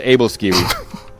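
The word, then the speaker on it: Æbleskiver: There isn't because they pronounce V's as W, like Aquavit.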